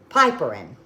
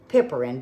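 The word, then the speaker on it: piperine: you may know packs piperin some people pronounce it pipparin but it's p-i-p-e-r-i-n-e this will encourage the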